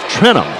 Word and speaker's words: Trentham: I've been saying her name wrong. It's Trentham. Trentham is the way they pronounce it.